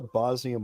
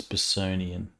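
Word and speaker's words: Bossonian: So would the Bosnian marches be then the kind of the right side of Thunder River? It's Bosonian, not Bosnian.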